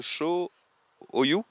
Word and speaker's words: Cho-Oyu: Alors, je vais essayer de me lancer dans la prononciation. Ce sommet, c'est le Cho-Oyu.